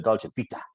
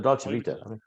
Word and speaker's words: Dolce Vita: And apparently I'm the only person in the world that pronounces it like that because I emphasize the Vita bit. I'm like, the Dolce Vita.